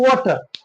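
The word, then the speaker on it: water: drink some milk कुछ पानी पी low drink some वाटर drink some वाटर last वाले जो रॉ होता है उसको साइलेंट बोलेंगे ठीक है तो कुछ क्या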